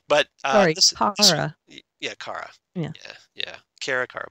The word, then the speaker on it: Kara: Kara, but yeah, it's Kara.